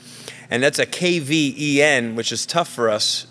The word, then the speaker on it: Kvenberg: mics so our special guests and I will pronounce her name correctly her first name is that's easy her last name is kenberg and that's a kven which is tough for us you know English